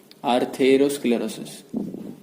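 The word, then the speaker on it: atherosclerosis: अब आएगा आर्थेरो, the spelling देखो, वहां पे आर्टेरो है, यहाँ पे आर्थेरो है। Okay, so this is the difference. आर्थेरो स्क्लेरोसिस तो सेम ही रहेगा। सो आर्थेरोस्क्लेरोसिस, here Thero, there is टेर, ओके, हियर इज थेर।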